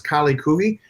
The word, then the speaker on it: Kaali Khuhi: And for those of you who are just listening and not watching it, the name of the film is Kaali Khuhi. It's spelled Kaali, and then the second word is Khuhi.